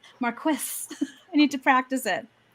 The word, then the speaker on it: marquess: is indeed a marquess i always say marquez i always have but that's not actually how it's pronounced marquis i need to practice